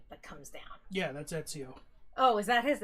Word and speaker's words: Ezio: has the point that comes down yeah that's Ezio oh is that his how you say his